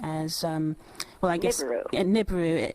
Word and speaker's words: Nibiru: um well I guess nibu if we were to use the English dialect I guess the sounds phonetically would come up as niburu so please tell us